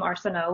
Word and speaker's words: Arsenault: Arsenault would be the correct pronunciation.